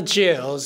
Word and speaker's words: jewels: はい、baby, baby, まあこれそのままですね。don't need no jewels in my, はい、これなんですけど、jewels ですけど、これもね、L 発音しなくていいと思います。で、さらに言うと、jewel っていうのね、ウェですね。ウェもほとんどウに近い感じですね。で、そのウに関してもほとんどあんまり言ってない感じで、簡単に言うとジューズに聞こえます。ジューゼマ、ジューゼマ、ジュー、ウ、ウ、ウってね、ほんの少しだけ言う感じです。ジューゼマ、クラウンですね。で、まあ、クラウンはちょっと難しいですね。C と R ですね。カッカッカって感じで、クーじゃなくて、カッっていう感じで言って、クラウン、クラウンですね。これちょっと難しいですね。ベイベー。Baby, don't need no jewels in my crown.